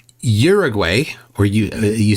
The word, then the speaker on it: Uruguay: question for you Z Uruguay or you you say Uruguay right Uruguay or urug okay I'm way off yes because you have to pronounce each letter as the sound that it makes so it's it's U